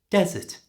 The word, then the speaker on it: desert: get it confused with desert for the food category put all of the stress at the end of the word dessert and for the Big Sandy Place put the stress at the beginning desert you don't want